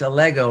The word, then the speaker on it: Allego: yes you did it's a lego rhymes with legos what was the meaning